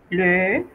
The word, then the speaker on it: le: Cerramos un poco la boca y pronunciamos E. Le.